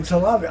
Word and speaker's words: Talavi: So that's how you say the name, Talavi.